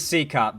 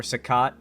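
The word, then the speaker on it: CECOT: That is CCOT, by the way. That is how they line up the prisoners at CCOT, or SACOT, many different ways people pronounce it.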